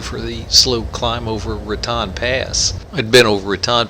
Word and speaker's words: Raton: I want to say that we're here in Raton, and I know it's not pronounced Raton because we've been coming up here for 30 years and we've been mistaken. It's Raton.